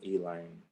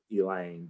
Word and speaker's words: Elaine: Yeah, and it's spelled Elaine, but the people here say Elaine. That's our southern drawl.